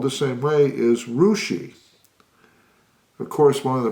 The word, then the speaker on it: Russia: which in Ohio spelled the same way is rushi of course one of the more popular ones